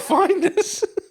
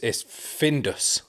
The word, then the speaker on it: Findus: It's not. It's Findus. There we go. Findus. There we go. That's what it is. It's not Finders.